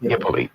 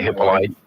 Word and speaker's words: Hippolyte: That's how you say it, Hippoly? Hippoly, yes. Cool. Okay. Some people say Hippolyte. We say, those French people will say Hippolyte. I was just curious. Some people say Hippolyte, they say it right.